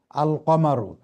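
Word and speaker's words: القمر: এটা আপনার জি জি সহজভাবে আরেকটু মনে রাখার বুদ্ধি হলো আশামসু আল কমারু। আশামসুতে জি দেখেন জি লাম এখানে উচ্চারণ হচ্ছে না, সরাসরি আলিফ শিনকে যে ধরতেছে। আর আল কামারু লামটা কিন্তু এখানে উচ্চারিত হচ্ছে।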